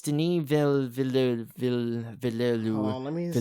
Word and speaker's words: Villeneuve: No, it's Denis Villeneuve. Hold on, let me see if I can pronounce it. Villeneuve.